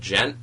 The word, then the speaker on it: djent: It's called Gent. It's spelled DJENT.